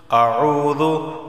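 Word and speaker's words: أَعُوذُ: قل، ٹھیک ہے، قل۔ اعوذ واو ساکن سے پہلے پیش ہے تو اسے ایک الف کے برابر کھینچ کر پڑھا جائے گا۔ برب الناس نون پر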